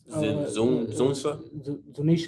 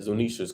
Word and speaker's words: Zunisha: forgetting how to pronounce the how do you pronounce it? It starts with a Z. The elephant. Zunsa? Zunisha.